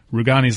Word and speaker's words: Rugani: Rugani's last name actually has a hard G.